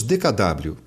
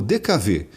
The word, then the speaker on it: DKW: No Brasil, não pronunciamos DKW. O carro ficou conhecido como DKV, pela sonoridade da letra W no país em que a fábrica foi fundada.